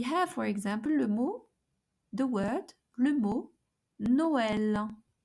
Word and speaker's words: Noël: So we have, for example, le mot Noël. Noël. So each vowel is pronounced separately.